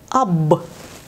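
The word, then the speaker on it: أب: уверена что у вас Действительно это слово читается как аб аб аб переводится с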